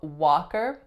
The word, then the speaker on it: Walker: have Walker Walker now what's special about the spelling of Walker it has a silent L that's totally not pronounced how many syllables are